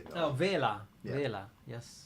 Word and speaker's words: Vela: Vela. Yes. That's how you say it in Italian.